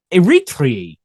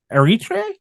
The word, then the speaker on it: Eritrea: From there, it spread out along the Horn of Africa, establishing the colony of Eritrea. Butchered that horribly. Wish I did it. It's spelled Eritrea. I'm going to call it Eritrea.